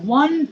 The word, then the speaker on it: want: নো নো, ওই যে ওয়ান্ট বলো, আই ওয়ান্ট টু ইট my dinner. I went to eat my dinner. ওয়েন্ট হবে না, উচ্চারণটা ওয়ান্ট বলো, আই ওয়ান্ট টু বলো, I want to eat my dinner.